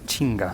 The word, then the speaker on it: chingá: Es decir, han cogido esta palabra británica y le han puesto la pronunciación andaluza. Lo mismo ocurre con la palabra chinga.